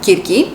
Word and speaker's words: Circe: And let's start with one of the most exciting books in this pile, which is Circe or girly. That's how it's pronounced in Greek. This is of course a Greek name, girly.